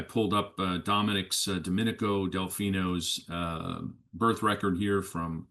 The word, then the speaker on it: Delfino: His dying words about um Dominic Delfino Delfino, I'm going to call him Delfino because that's what I've been um that's the the pronunciation that I've heard.